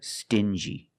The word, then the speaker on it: stingy: These two words have the regular N sound, N, plus the J, like juice. Together, stin-G. Together, stingy. Or din-G.